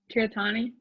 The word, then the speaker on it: Tirthani: me too say your last name again kiratani okay oh you said it better yes great